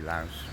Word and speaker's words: Laos: It's got an S on the end, so it should be Laos.